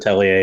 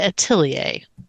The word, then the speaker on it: Atelier: But it definitely nobody says it atellier in that game. cuz when I have to spell it, I always have to say at lear, but when I say it, I have to make sure that I say atilier, having had to set